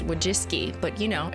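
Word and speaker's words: Wojcicki: Wajiki Jiki. Actually pronounces Wajiski, but you know, it's for the memes.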